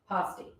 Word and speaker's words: pasty: you, first of all, let's talk about how you say it. Okay, Freeform cutting. we learned to say it. How do you say it? Pasty. That's what we learned in Upper Michigan.